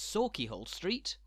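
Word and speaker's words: Sauchiehall Street: Scotland's big cities too are laden with traps, so remember that when you're in Glasgow, it's Sawkeyhole Street, and in Edinburgh, it's Coburn Street, not Cockburn, and it's Holyrood, not Holyrood.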